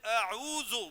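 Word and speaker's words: أعوذ: تلفظ اس طرح نہیں ہے. تلفظ ہے اعوذ باللہ. کون اس طرح پڑھتا ہے؟ اعوذ میں حمزہ ہے, پھر عین ہے, پھر واو ہے, اور ان تلفظوں کے ادائیگی کی ضرورت ہے. کسی بھی قاری صاحب سے پوچھ لو, اگر آپ اس کو اعوذ پڑھو گے تو وہ تو لفظ ہی بدل جائے گا.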